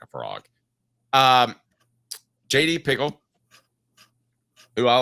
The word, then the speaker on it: Pickell: JD Pickle, is that his name? Am I pronouncing it right?